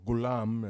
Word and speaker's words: ghulam: in Arabic one who's owned and Coulomb aur ghulam as it's pronounced just basically means boy or page or